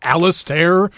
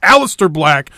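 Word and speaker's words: Aleister Black: apologize last week for some reason I was pronouncing his name alist or something and it's the name is spelled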